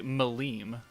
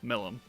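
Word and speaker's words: Milim: uh just like the they say maleem no no there's two eyes in her name why would you pronounce the I differently so it's Milam and it's guy and that's because I'm my own person and I can say things how I want and I am 100 aware that is pronounced different ways I just don't care Sirius is named after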